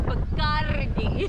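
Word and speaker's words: Bacardí: It's Bacardi. Yes, say it with the ra.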